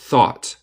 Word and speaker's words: thought: Con el T es thought. Thought. Nota el TH cambia la pronunciación. En la palabra pensó, thought es como un F. De hecho, es más como la Z de España.